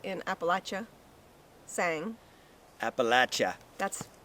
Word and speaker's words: Appalachia: say in Appalachia sang Appalachia that's we've also learned how to pronounce that word correctly if we intend to live here like it local remember Appalachia not Appalachia not Appalachia abhilasha Appalachia so we've got some